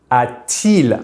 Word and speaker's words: a-t-il: These are only for pronunciation purposes because our verbs end with a vowel and our subject pronoun starts with a vowel, which makes it hard to liaise.